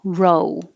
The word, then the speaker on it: row: And the ROW can be spelled, it's spelled the same way, but it could also be spelled ROE, meaning fish eggs, or row, row the boat. They have the same sound O, row. It's just O. And then a different pronunciation for ROW has a different meaning, which is more argument, and that's ow, row. Failure.